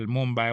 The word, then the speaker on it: Mumbai: Well, Mumbai was the correct pronunciation of that city from that time. As the British mispronounced it.